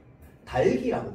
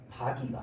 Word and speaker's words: 닭이: 달기라고 발음해야 됩니다. 닭이가 아니라.